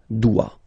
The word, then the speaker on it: dois: je dois com je dois ok tu dois final not pronounced tu dois il elle doit final